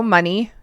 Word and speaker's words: Money: So John William Mooney, if whoever can't read what's on my screen, or no, Money. Yeah, it's spelt money. I guess I pronounced it retarded.